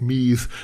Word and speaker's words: Meath: right beside Dublin, and they make Meath rhyme with teeth rather than with seethe.